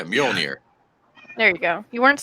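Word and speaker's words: Mjölnir: near Mill near Tapscott just don't pronounce the J yeah yeah mule here there you go you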